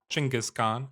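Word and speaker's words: Chinggis Khan: And indeed we are Genghaskhan or Chingis Khan as the more proper pronunciation of his name would be.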